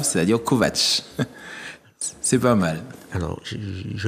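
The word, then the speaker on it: Kovacs: parce qu'il faut prononcer ça s'écrit k o V a c s mais ça se prononce à la slave c'estàd kovat c'est pas mal alors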